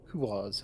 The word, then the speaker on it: Quaz: Quaz, huh? It rhymes with Oz.